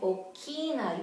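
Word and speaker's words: ʻokina: And okina, you see this mark here? It's like a backwards apostrophe, okay? Okina. This is considered an alphabet too. It's a glottal stop.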